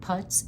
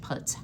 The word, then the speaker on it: putz: talk about today are vintage putts houses and putts is spelled p u TZ now I haven't gone into Monica's closet if y all were a fan of friends deep enough to find my truly vintage putts houses when I do I'll include it in